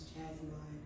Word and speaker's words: Jazmon: Yeah, I would say Jazz, or I would say Jasmine, because my name is spelled Jazmon. It's not like Jasmine, it's Jasmine.